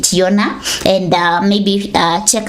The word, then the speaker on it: Jonna: Yeah, Yona. That's how she pronounced it, Yona.